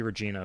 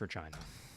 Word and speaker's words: Regina: of su scotch one Regina not Regina you might think it might be Regina but no it's Regina as they say the city that rhymes with fun uh what happened to